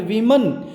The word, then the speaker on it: women: बहुत सारे आदमी, एंड वीमन। तो प्यारे बच्चों जो WOMEN है इसको वीमन बोलते हैं, और ये बहुवचन होता है वुमन का। WOMEN वुमन का बहुवचन होता है वीमन, तो इसका प्रोनाउंसिएशन है वीमन।